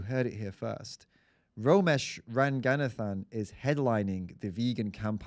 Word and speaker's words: Ranganathan: Romesh Ranganathan.